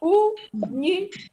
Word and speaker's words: único: 3 sílabas. Único. E a sílaba tônica é a antepenúltima.